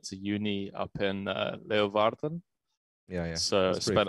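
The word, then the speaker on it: Leeuwarden: friends that went to uni up in uh leovarden yeah yeah so i spent a lot of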